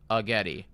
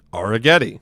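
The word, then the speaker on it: Arrighetti: So, yeah, cuz I heard that it was R as in like we are going to the cinema, right? Like we are we are doing this like you are doing that. Like I heard it was Arghetti. It's pronounced Aragetti.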